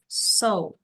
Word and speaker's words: saw: di sini C ya Ini cara bacanya adalah so so so ya enggak ada w-nya so kayak ada diikit so so sedikit aja ya he sedikit so so terus oke Ini verb